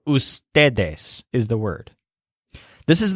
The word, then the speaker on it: ustedes: them by a word whose stress syllable is stay so ustedes is the word this